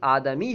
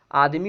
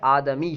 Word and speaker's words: آدمی: اب یہ زیادہ استعمال آدمی ہونے لگا دال کے ساکن کے ساتھ، آدمی، تو ابھی آدمی استعمال کر دیتے ہیں، لیکن حقیقتاً تلفظ جو ہے آدمی ہے، ٹھیک ہے، دال کے فتح کے ساتھ۔ اب یہاں سے دوسری